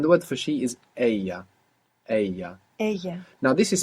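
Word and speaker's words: ella: word for she is Aya a a now this is spelled e l l a double l in Spanish is pronounced y a so if you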